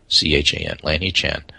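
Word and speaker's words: Lanhee Chen: one named lanhi Chan l-a-n-h-e-e-c-h-a-n Lanny Chan he was Romney's Chief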